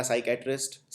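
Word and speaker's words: psychiatrist: अगला साइकेट्रिस्ट। साइकेट्रिस्ट तो हमेशा हर दूसरे साल ही एग्जाम में आ जाता है, किसी ना किसी एग्जाम में। साइकेट्रिस्ट में पी साइलेंट होता है, सबसे आगे जो पी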